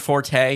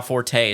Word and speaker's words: forte: The original pronunciation is just fort. Oh, I'm sure there's a lot of that stuff. But now forte is acceptable.